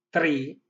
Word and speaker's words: tri: Soggetto maschile, tri, 2 i, perché la i lunga, tri, triomen.